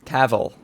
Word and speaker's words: Cavill: actually sat down with Henry Cavill is Cavill. pronounced like travel.